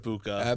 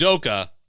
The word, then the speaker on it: Udoka: Not Ibuka. But we know who he is. Udoka.